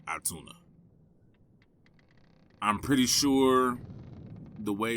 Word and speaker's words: Otoonah: not find anything on atuna or otuna um other than the pronunciation being atuna I'm pretty sure the